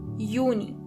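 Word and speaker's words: Juni: May is my May Jun is uni. Uni. As you know the letter yacht is not pronounced as but as ye. So together you have yuni.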